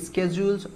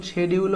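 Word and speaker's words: schedule: তারপরে হচ্ছে changes in স্কেডিজউলস or routines এখন এটার প্রোনাউন্সিয়েশন শেডিউল হয় আবার স্কেডিজউল হয় শেডিউল হচ্ছে ব্রিটিশ এবং স্কেডিজউল হচ্ছে আমেরিকান প্রোনাউন্সিয়েশন তার মানে যে সময়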